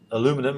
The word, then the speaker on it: aluminum: The actual density of aluminum or aluminium, depending on how you want to pronounce it, is something of the order of about 2,700.